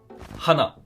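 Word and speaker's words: 花: Par exemple, entre Le H n'est pas muet en Voilà, japonais, tout exact. simplement. Le H existe. voilà, c'est une vraie lettre, on la prononce, on l'entend, et faut pas la négliger.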